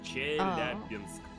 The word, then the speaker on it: Chelyabinsk: Chelyabinsk. Chelyabinsk? Almost. It's like a soft sk at the end.